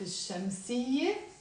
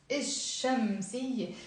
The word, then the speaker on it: الشمسية: So notice I'm not pronouncing الشمسية, I'm pronouncing الشمسية. Here الشمسية, and exactly this is the lesson today, to know what we're actually pronouncing and why we are not pronouncing the L sound that is here in the alif lam, which means the.